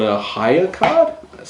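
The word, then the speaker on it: Hayya: you have to have a card called a higher card that's spelled h a double y a card which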